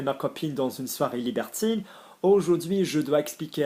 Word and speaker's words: libertine: Notice the pronunciation of libertine because there's an E on the end. So can I remind you, I-N, unless followed by a vowel, is un. I-double-N with a vowel, same thing, in.